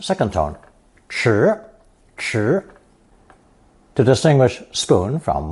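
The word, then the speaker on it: 匙: When pronounced chi, it represents a spoon, but when given the unstressed pronunciation shi, shi, it means a key, a spoon-like object.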